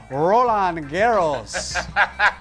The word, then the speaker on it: Roland Garros: And then Rafa returns to rule Roland Garros for his seventh title. And do not forget to roll your R's when you speak of this, Bob.